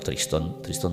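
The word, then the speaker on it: Tristão: nombre Pues veréis que se escribe tristao pronunciado tristón de Acuña bueno hubo una traslación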